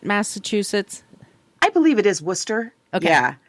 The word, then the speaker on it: Worcester: Is that how you pronounce it? Massachusetts? I believe it is Worcester.